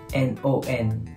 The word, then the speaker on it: non: Napansin niyo na naman, N-O-N. Hindi nila pronounce yung N. No. Parang kinakain nila yung huling letra nila.